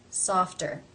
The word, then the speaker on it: softer: It comes at the end of a syllable in a consonant cluster, FT. Therefore, as it is part of this cluster, it is pronounced as a real T sound. Softer.